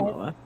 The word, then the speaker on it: Momoa: Maybe that's not how it's pronounced. I've never heard it said. No, it is. Yeah, it's Okay. Momoa.